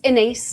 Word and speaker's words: Inés: My name is Inace. I always say rhymes with face or with space occasionally with disgrace. Anything ending with ace.